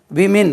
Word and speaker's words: women: விமின், உச்சரிப்பு gown, WOMEN, விமின்.